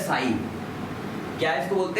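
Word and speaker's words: ψ: Water potential या solute potential, देखो एक ग्रीक सिंबल है साई। क्या इसको बोलते हैं? त्रिशूल। त्रिशूल नहीं बोलते, इसको बोलते हैं साई, ठीक है। PSI, P भी साइलेंट है इसमें।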